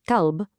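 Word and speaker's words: كلب: Qalb means heart, but kalb, with a light forward K, exactly like the English word kite, well, that means dog.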